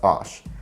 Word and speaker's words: عشر: As for 11 to 19, these are a fusion of 1 to 9 plus ash. Although this is originally short for ashra, it's actually pronounced without the ain.